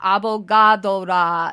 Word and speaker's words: Avogadra: The droid in this episode is Avogadra. It is pronounced Abogadora in Japanese. Avogadra's name is a play on avocado, and she does throw avocado bombs, obviously. In Japanese, avocado is abocado.